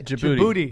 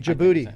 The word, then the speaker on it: Djibouti: Djibouti. Djibouti.